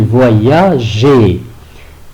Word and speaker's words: voyageait: Donc, on met un E pour prononcer le verbe voyager. Il, avec S, la terminaison c'est AIENT, donc il voyageait.